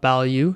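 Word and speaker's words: Bilyeu: uh his name is Tom value is how you say Tom build you Bill you sorry so working with Tom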